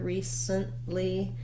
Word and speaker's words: recently: pattern and those sounds recently is another example of first syllable stress where the letter e does say the e sound and then letter c says s i've written it here recently with no vowel sound between the s and the n again because we move